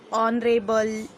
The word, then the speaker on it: honorable: For example, honorable, our. These are the words that are starting actually with H, but H is silent there, and pronunciation is the